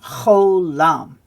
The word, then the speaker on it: Cholam: So as we can see, it's got the O sound, cho. So that way when we see that O, but often with the vav like that, the vav is not pronounced and just the O sound. So it's O, right?